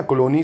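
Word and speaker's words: Cologny: कोलोनी Switzerland बोल सकते हो क्योंकि जी साइलेंट ही रखते हैं, स्विट्ज़रलैंड के कोलोनी में है।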